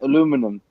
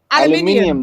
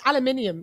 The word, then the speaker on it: aluminium: is aluminium they said aluminum they say how do you say it aluminium the way it's spelt oh get out of here how how how if you hear scientists pronounce it it's aluminium it's it's it's splattered